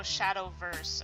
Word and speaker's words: Shadowverse: just like this looks like vanguard shadow oh shadowverse oh that's how you say it okay oh